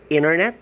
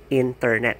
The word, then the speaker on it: internet: music and such so we commonly mistake that removing the tea would make the articulation much better which actually is not so it's not internet it should be still internet that's how you neutralize